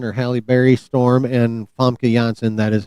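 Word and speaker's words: Famke Janssen: Also from missing from the Fox X-Men are Halle Berry Storm and FA Jansen. That is how you correctly pronounce her name by the way chat.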